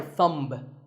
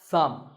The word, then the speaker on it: thumb: It's not my thumb. It's pronounced thumb.